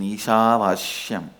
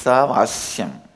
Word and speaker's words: ईशावास्यम्: Listen, my pronunciation Ishavashyam is also Padabeta. How I heard from my masters, I am repeating, but actually it is Isavasyam. Isha is not Vasya. My masters, they use the same Sha to Vasya also. I am retaining the Padabheda as it is, as a respect and reverence to my master's way of pronouncing it.